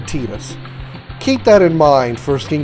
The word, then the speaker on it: Tidus: Final Fantasy X, that even Square Enix can't decide how Tidus' name is pronounced. Me and Tidus, we are gonna do a little exploring today. You know, to the secret place at the base of that tree. There's gotta be something there, yeah? Now, you heard the way he pronounced Tidus' name. He said Tidus.